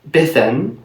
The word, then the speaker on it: Bedwini: about the name so I pronounced it bethan but could this really